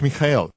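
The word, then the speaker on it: מיכאל: Mi nombre en hebreo es Mijael. Significa ¿quién es como él? Es Mikael en ruso, Miguel en español y Michael en inglés. Hay diferentes pronunciaciones dependiendo de los sonidos comunes de la lengua nativa, pero el nombre sigue siendo Mijael.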